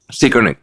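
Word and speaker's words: Zeigarnik: นี้ นะ ครับ เรา เรียก สิ่ง นี้ ว่า securate Effect นะ ฮะ เอ่อ สะกด z e i g a r n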